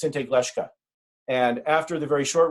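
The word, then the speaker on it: Siŋté Glešká: of spotted tail in our language it is pronounced in tag leshka and after the very short reading I'm happy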